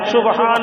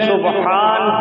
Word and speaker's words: سبحان: تو تلفظ صحیح نہیں۔ سبحان اللہ میں ہائے حلقی ہے، سبحان کے معنی ہے